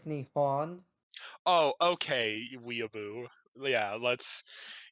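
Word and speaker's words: 日本: will say Trad I must correct you you mispronounced it it's not nepon it's Nihon oh okay weeaboo yeah let's yeah if you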